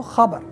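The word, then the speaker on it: خبر: So khabar, but the actual pronunciation is kha, kha, khabar, khabar, khabar.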